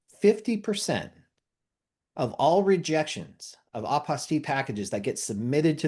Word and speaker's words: apostille: And remember what I mentioned when we started earlier, I like using the pronunciation apostille because it rhymes with unrestricted fees.